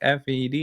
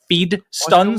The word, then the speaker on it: FeeDStunz: Like FED."